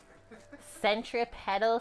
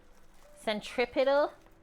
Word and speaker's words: centripetal: you want to happen centripedal Force centripetal that's how you say it properly you're killing me with